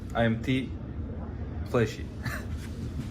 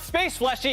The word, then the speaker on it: Fleshy: Oh, it's not Space Fleshy, it's IMT Flesh. You just pause. That makes sense. Raf and Kobe, now I know how to say it. What? So the space is silent?